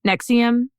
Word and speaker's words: NXIVM: that are based on Nexium which is spelled NX IVM okay and it's not the drug Nexium oh there's a drug